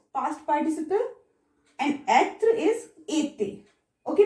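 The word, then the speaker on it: été: participle, and être is ete. Okay, pronunciation is ete with both accent aigu.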